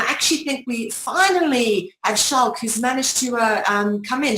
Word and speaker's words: Schalk: Right, Schalk, now that I'm pronouncing it correctly, Schalk, that's a very Afrikaans name, and what a van der Merwe as well.